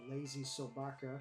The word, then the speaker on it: LazySobaka: I'm joined here by my two very good friends, incredible artists, and D&D compatriots, GutWitch and LazySobaka. I think that's how you pronounce that.